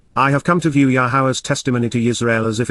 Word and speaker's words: Yahowah: a special relationship with, Yahowah, Yahowah, the proper pronunciation of Yahovah, our Eloah, God as